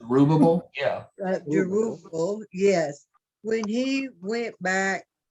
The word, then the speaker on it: Zerubbabel: I was also impressed with Zerubbabel, how you pronounce his name? Zerubbabel? Yeah. Zerubbabel, yes.